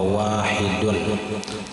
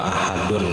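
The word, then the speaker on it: واحد: Wahiyya mi'atun wa wahidun, itu bacaannya wa wahidun, bukan wa ahadun kadang. Wawnya tertinggal sebuting, hamzahnya ganti alif.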